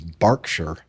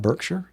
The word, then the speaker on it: Berkshire: He says, "Barkshire." Really? Barkshire. Barker. Not Birkshire. Barkshshire. No, it's not B. Bark.